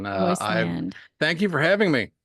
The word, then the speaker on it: Roisland: Royceland Royceland. is actually the correct pronunciation. Royceland.